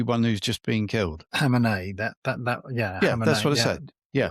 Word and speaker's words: Khamenei: I thought he was the the Khamenei How do you pronounce the the one who's just been killed? Khamenei.